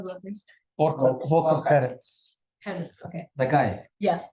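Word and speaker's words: Perthes: said at some point, I believe, to Volker Perth, I don't know, you know how to pronounce his name, but the UNITAB's person. The former. What's his, how do I pronounce that, please? Volker Perez.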